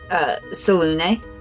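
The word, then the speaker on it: Selûne: Temple of Selune, or Saloon. How do you say? I didn't look it up. Isn't it Selune? How does Baldur's Gate 3 say it? Selune. Yeah, there we go.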